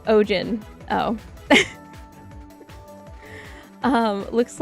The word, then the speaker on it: Eugen: Uh Eugene is pronounced o Ojen.